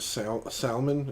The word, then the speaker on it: salmon: Salmon? Is that Yeah. that what you're calling me on? There's a Salmon. there's a fucking L there. Yeah, but it's not pronounced.